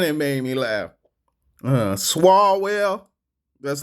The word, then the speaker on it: Swalwell: Swalwell, that's how we gonna say it.